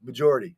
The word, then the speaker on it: majority: Majority. I know. The accent's on the second syllable. That's why when emphasizing it, you shift accent to the first syllable.